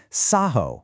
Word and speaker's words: Saaho: That double A accurately denotes the long ah pronunciation, completely honoring the original spoken language while keeping it easy to type and read in modern print.